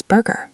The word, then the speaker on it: burger: Another word learners struggle with is burger, The R sound can be difficult.